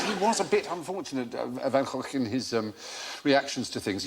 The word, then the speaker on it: Van Gogh: Thanks to our friends from the Dutch version of QI, we were able to give you the correct pronunciation of Van Gogh, the great man's name.